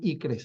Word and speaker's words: ICCRS: Sus cifras ICCRS, le decían ICRES, así para que pudiéramos pronunciar, ¿no?